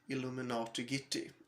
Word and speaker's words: iilluminaughtii: But the main focal point here is a conflict between a YouTuber called iilluminaughtii, or like it is pronounced really, iilluminaughtii, and she is a famous YouTuber actually, and